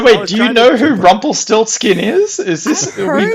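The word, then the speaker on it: Rumpelstiltskin: How to pronounce it? Rumple Still Skin.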